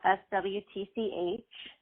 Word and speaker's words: Swtch: Swtch is spelled SWTCH.